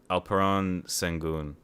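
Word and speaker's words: Alperen Şengün: I have them taking Alperon Sengun. That's how Same. you say it. Mm. I gotta pronounce it right.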